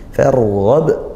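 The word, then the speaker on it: فَارْغَبْ: juga didahului hamzah wasl, sehingga meskipun tidak ada huruf fa tetap dibaca tebal, yarghab tetap itu. Farghab. Nah, kemudian di akhir ba sukun dan dia dibaca waqaf sehingga qalqalah kubra. Nah, dipantulkan membacanya.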